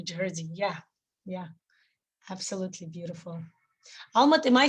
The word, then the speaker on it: Alma: yeah yeah absolutely beautiful alma am i saying your name correctly i'm always interested in pronunciations well i think it's not possible in english in german we say almoud okay yeah learning excellent